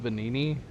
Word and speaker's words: Venigni: Oh, the G is silent. Is it really just Venini?